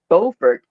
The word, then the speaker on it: Beaufort: Especially they pronounce the city's name as Beaufort, and we say Beaufort. You say Buford, Beaufort, yeah.